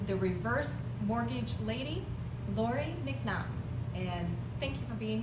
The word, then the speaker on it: MacNaughton: - No, no it's great, I always say my name is pronounced like there's a knot in my shoelace. - So, like Mac Knot.